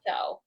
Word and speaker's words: Oliso: How do you pronounce that? Is that Oliso? Oliso.